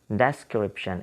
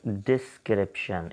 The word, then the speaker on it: description: Okay, generally we pronounce it like the description. Okay, description, it's not description, it's description. So similarly the word is describe, it's not describe.